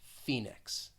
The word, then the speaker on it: Phoenix: long e sound it's almost like the o is kind of just omitted phoenix phoenix then we have